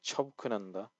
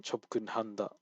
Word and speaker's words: 접근한다: But when it's being covered up like charanda, you don't really pronounce the hit. You don't say charanda. Like you can. It's not incorrect, but it doesn't flow well. So like chobkunanda is like it flows better than chobkunhanda.